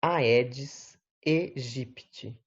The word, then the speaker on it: Aedes aegypti: da espécie aedes aegypti pronúncia do latim é aedes egypty as viroses que são